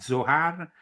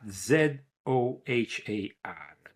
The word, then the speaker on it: Zohar: Then there was of course you know the Zohar became the book that kickstarted this interest.